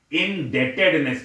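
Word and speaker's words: indebtedness: तो रूल 17 में देखिए इनसोल्वेंसी और हैबचुअल इन डेटेडनेस पढ़ते हैं इसको बी साइलेंट रहता है ऐसा नहीं रूल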